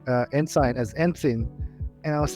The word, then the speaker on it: ensign: and sign just kidding and sin and sign is pronounced as Ensign not Ensign I really enjoyed the